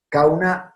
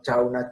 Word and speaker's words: Chauna: Cauna cavaria, tampoco es mía la foto. Cauna cavaria. No Chauna chavarría.